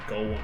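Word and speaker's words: Gaulem: is of course gold much to his surprise this ends up being pronounced like golem anyway on a side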